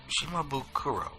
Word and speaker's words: Shimabukuro: saying they and David haha how do you pronounce his name shikha no shima boo shimabukuro that's a nice name shimabukuro sensei beautiful work props props to the highest